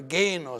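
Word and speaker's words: ⲅⲉⲛⲟⲥ: The last one, which is the pronunciation of this letter as g, as the g, in go, all right? This, like this word here, genos.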